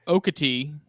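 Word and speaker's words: Okatie: there's a part there's there's okatee which is spelled okay a t i e and that is considered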